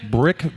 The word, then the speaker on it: Bricc: Brick Baby Shitra. Brick is spelled BRICC.